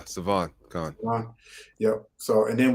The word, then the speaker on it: Sivan: Did I pronounce that right, brother? Sivan? Yeah, Sivan.